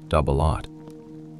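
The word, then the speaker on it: double-aught: Its primary ammunition, doubleot buckshot, pronounced doubleot, consists of a shell packed with eight or nine 33 caliber lead pellets.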